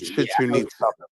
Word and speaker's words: Chichen Itza: It's called Chichen Itza. That's how you pronounce it.